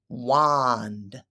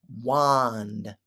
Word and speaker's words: wand: friends we pronounce it wand wand what you can't really hear the D at the end it's not a hard D so we say wand